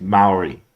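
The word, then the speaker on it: Māori: I think it's Maori is how you pronounce the indigenous people from there.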